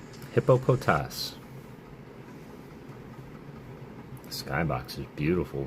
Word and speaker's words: Hippopotas: All right, proper pronunciation for this Pokemon. Are you ready? Hippopotas. Hippopotas.